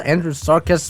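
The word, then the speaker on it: Andrewsarchus: It's called Andrew Sarcus but this is again an acceptable pronunciation as you can see here.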